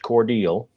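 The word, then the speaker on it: Cordele: on i-75 cordial georgia looks like cordell uh but it's pronounced cordial and uh they have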